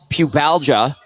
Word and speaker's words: pubalgia: well for a guy who's dealing with athletic pubalgia is I did I say it right yep